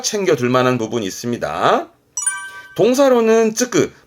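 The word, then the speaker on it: 就く: 요거는 발음 때문에 N1쯤에서 많이 언급됩니다만은 다 슈슈 하다가 요 성취만 발음이 조주가 되니까 챙겨둘 만한 부분이 있습니다. 동사로는 쯔끄, 말 그대로 취직하다.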